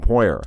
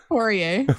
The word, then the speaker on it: Poirier: Anyway, He's so from Louisiana, so he's got that French pronunciation.